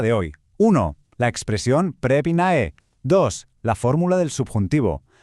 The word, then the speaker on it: Πρέπει να: A ver, la clave indiscutible de todo este asunto es precisamente esta expresión prepina, que se pronuncia prepina.